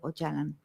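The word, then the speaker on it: Öcalan: historia que este personaje ocalán que ellos llaman de ochalan pronuncian o ya entonces ahí una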